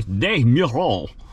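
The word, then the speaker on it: Des Meurons: boniface on desmuron street or as the french say de niro that's how they say it exactly like that i actually went to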